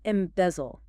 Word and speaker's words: embezzle: Next, to embezzle. E-M-B-E-Z-L-E. Pronunciation. Embezzle. Stress on the second syllable. Bez. 3 syllables.